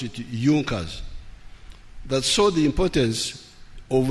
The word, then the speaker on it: Junkers: It is written Junkers, but they pronounced pronounce it Junkers.